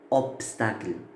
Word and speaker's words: obstacle: Mais quand vous prononcez le mot obstacle, on ne dit pas ob, on dit op, obstacle. C'est-à-dire on prononce le P, pas le B.